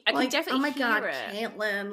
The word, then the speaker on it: Caitlin: skin tangent I was meant to be called cotlin which is the Irish pronoun like Irish pronunciation of so it's spelled exactly the same